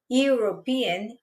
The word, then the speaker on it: European: Quando eu vou pronunciar a palavra European, European, o som também vem desse som do you like you.